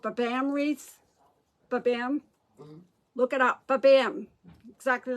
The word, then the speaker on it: Babam: unbelievable they make this wine called babam wreaths babam exactly like I said it's spelled stock like that b-a-b-a-m-m the BAM and